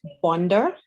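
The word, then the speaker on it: bonzer: the day which was bonda it's actually spelled b-o-n-z as in zebra er but it's pronounced bonder and it actually means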